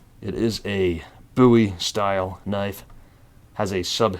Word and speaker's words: Bowie: buoy or Bowie apparently it's actually pronounced buoy because of the guy it was named after the knife so anyways the frontier buoy let's get this thing